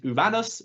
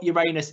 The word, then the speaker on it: Uranus: There are many ways to pronounce it. I prefer Uranus. You could also go by one of the original pronunciations, which is Uranus, which I do think sounds cooler, or Uranus if you want to make some jokes, all fine.